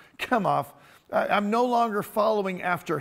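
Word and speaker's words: Chemosh: to be falling after after kem off after shemosh or however you pronounce it however you want to pronounce it it's pronounced come off i'm no longer following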